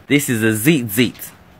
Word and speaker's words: tzitzit: So a next form of a fringe here is a tzitzit. This is a tzitzit. It's spelled T-Z-I-T.